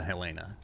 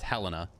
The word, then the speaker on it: Helena: back I'm pretty sure we all have a Hellena and it's Helena you saying her name wrong this whole time is